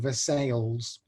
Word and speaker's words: Versailles: this, but there's a town in Missouri called Versailles, and that is how they pronounce it.